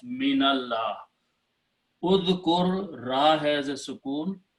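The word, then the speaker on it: مِنَ اللَّهِ: For example, the word is udhkur, the word is min, but when we combine and read together, then min has a sukoon, but we change to fataha and pronounce minallah.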